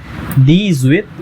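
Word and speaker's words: dix-huit: तो इसे प्रोनाउंस करेंगे दी सेथ। देन नेक्स्ट 18 सेम, दी जुइथ।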